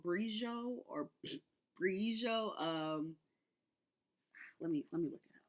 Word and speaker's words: Briogeo: I think it's called Brijo or Brijo. Let me look it up, y'all. So I don't say I'm gonna probably still say it wrong. I'm just gonna say it real. Briogeo, Briogeo.